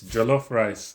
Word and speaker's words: jollof: Wait, why am I saying it in a British way? It's jollof rice.